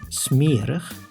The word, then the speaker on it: smerig: In two specific situations, the I is pronounced as when the word has an unstressed ending on I plus G, like in smerig, which means dirty, and I plus S, like in notaris, which means notary.